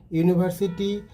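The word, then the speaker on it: university: এখানে ইউনিভার্সিটি ইউ এর মতো উচ্চারিত হয়েছে, তাই এখানে সঠিক অ্যান্সার হবে Rachel is এ ইউনিভার্সিটি student.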